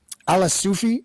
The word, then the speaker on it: Alaa Soufi: with hanging with extremists on the right and ala Sufi is that the correct pronunciation yes okay you have been uh associated